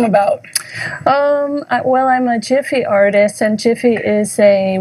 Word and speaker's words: GIF: create it and do it and so it's jif not gif and there's a big debate about how to pronounce it but that's how i pronounce it